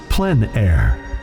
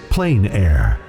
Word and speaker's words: plein air: which means open air or outdoors the French pronounces plenn air others say plein air no matter how you say it there is